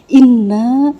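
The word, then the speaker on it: إنّا: ini kalimatnya gini Inna Inna itu dibacanya nanya itu panjang beda dengan kalau Inna kalau Inna pendek itu artinya adalah sesungguhnya Tetapi kalau Inna itu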